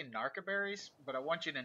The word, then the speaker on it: narcoberries: over time, I say narcoberries, but I want you to know that I know it's narco. I just, my accent kicking in a little bit. I know it's narcoberries.